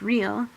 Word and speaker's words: Riel: He preferred Riel, pronounced real, or Gull, pronounced gull.